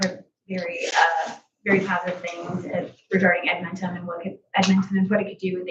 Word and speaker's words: Edmentum: have, looked into both programs, and it's actually pronounced Edmentum. But I've heard very positive things regarding Edmentum and what it could do and things like that.